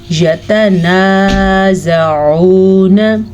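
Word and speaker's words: يتنازعون: یتنازعون، عین کو تلفظ کو اپنے مخرج سے نکالنا ہے، اس کو آپ نے یتنازعون نہیں پڑھنا۔ ابھی سے پریکٹس کریں۔ یتنازعون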